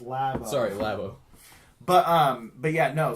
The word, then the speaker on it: Labo: It's pronounced Labo.